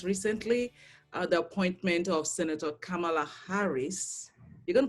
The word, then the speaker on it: Kamala: show and um and you pronounced kamala's name perfectly it's uh kamala equally emphasized each syllable and it means lotus